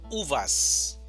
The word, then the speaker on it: uvas: Tenemos la palabra uvas, división silábicas, uvas. Mayor fuerza de voz, uvas. No decimos uvas, decimos uvas. Puma, puma.